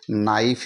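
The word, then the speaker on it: knife: silent हो जाएगा यहां एन आई एफ का उच्चारण ही करेंगे नाइफ ही हम इसको पढ़ेंगे के एन ओ डब्लू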